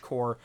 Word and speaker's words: Corps: Well, okay, Core is technically above his head, but make sure you spell it that way. Yep, CORPS. Corpse. Marine Corps, that kind of thing. If you add an E, it's corpse, like what happens to